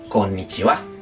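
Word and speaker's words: こんにちは: Si habéis estudiado bien el giriragana, sabréis que esto es ja en japonés. Esto es el giriragana. Ja. Entonces, yo acabo de escribir con niija, pero se dice con nichiua.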